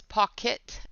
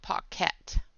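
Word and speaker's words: Pockit: And it's pocket, not pocket. So it's K-I-T, not K-E-T. Color pocket. Like a kit.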